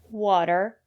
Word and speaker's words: water: say potatoes or flatten usually when the letter T is between vowels we pronounce the letter t as a fast the water better City and the reason is because the syllable after the letter T is not stressed water the first syllable